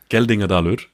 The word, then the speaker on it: Geldingadalur: How do you pronounce that? Geldingadalur.